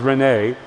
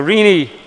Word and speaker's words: Rini: And I'd like to proceed now to Sister Rini, which I was going to mispronounce as Renee, but I was corrected. So Rini, she writes, Roy is our dear Pankajanghri.